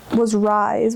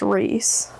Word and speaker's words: Rhys: But now that I look at it, I don't know why I thought it was Rise when it clearly is Reese.